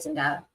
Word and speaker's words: Zendaya: So it is the Z sound instead of the S sound?